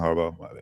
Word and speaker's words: Harbaugh: John Harbo.